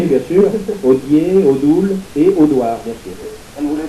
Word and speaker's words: Audouard: Qui s'écrit O-D... A-U-D-O-U-A-R-D. A-U-D-O-U-A-R-D, c'est la prononciation.